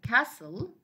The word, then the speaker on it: castle: We have words like castle.